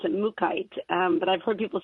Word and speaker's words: mookaite: I've heard it pronounced multiple ways but I pronounce it mookaite but I've heard people say Mook Mookie ight